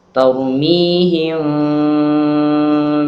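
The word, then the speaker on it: تَرْمِيهِمْ: Cara membacanya adalah dengan tidak menutup rapat mulut kita. Ini caranya. Maka membacanya adalah Tarmihim, tarmihim. Suaranya seperti itu. Jadi tidak dibaca dengan mulut yang tertutup.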